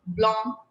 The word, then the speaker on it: blanc: Bleu, blanc, rouge.